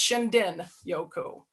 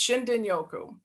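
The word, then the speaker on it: shinrin-yoku: but it's actually pronounced shindin Yoku so the r is a d pronunciation so it's shindin Yoku and what this is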